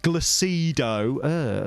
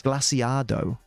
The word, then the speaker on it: Glaciado: Or as some people call it, Glacido. Learn how Spanish people pronounce things, please. Glaciado. Thank you.